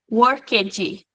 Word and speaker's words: worked: Worked, mas ele quase que sai num som de T. worked. Repararam, eu não falei worked, eu falei worked. É quase um som de t no final, na pronúncia.